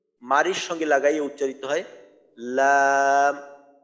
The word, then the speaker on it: লাম: উচ্চারণটা এমন হয় লা, লি, লু, এই ধরনের উচ্চারণ হয়।